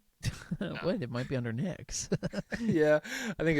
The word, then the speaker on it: Knicks: Yeah, I think it's probably more on the Knicks. KNI. I'll See, the crazy thing about the Knicks is the K. So it starts with a K, but the K is silent.